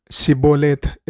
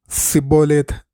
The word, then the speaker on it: ഷിബോലേത്ത്: എഫ്രൈമ്യരെ തിരിച്ചറിയാൻ ഗിലെയാദ്യർ ഷിബോലേത്ത് എന്ന് ഉച്ചരിക്കാൻ ആവശ്യപ്പെട്ടു. അവരുടെ പ്രാദേശിക ഉച്ചാരണം കാരണം അവർ സിബോലേത്ത് എന്ന് പറഞ്ഞു. അതുവഴി അവർ തിരിച്ചറിയപ്പെടുകയും ആയിരക്കണക്കിന് ആളുകൾ കൊല്ലപ്പെടുകയും ചെയ്തു.